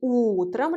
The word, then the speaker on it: утром: Faites attention au changement de la place de l'accent tonique. On dit утром, l'accent tonique frappe la première. Voyez le ou, alors que по утрам, l'accent tonique frappe la dernière. Voyez le a.